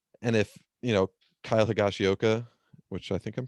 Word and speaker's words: Higashioka: fully get it and if you know kyle higashioka which i think i'm pronouncing that correct yeah you got it cool